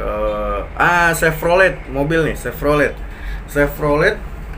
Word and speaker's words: Chevrolet: ah Chevrolet mobil Chevrolet Chevrolet ternyata penyebutannya pelafalannya Chevrolet Chevrolet Chevrolet Chevrolet Chevrolet eh taunya pasti nggak pakai cevrolet bukan kalau mikrolet M10 Oke